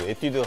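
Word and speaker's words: 에뛰드: 皆さんエチュードは韓国の発音はエティーでですね韓国の 2 つ有名なハウスエティドゥハウスジェニーハウス違うかそして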